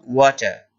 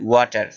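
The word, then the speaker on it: water: ব্রিটিশরা আর উচ্চারণ করে না, তাই আমি বললাম ওয়াটার। আপনারা যদি আর উচ্চারণ করতে চান অর্থাৎ বাংলাদেশীদের মতো, তাহলে বলবেন ওয়াটার।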